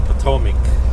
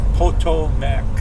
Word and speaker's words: Potomac: Around here they call it the Potomac River, but hey, I'm reading it the way it's spelled, Potomac. Stay green, Mr.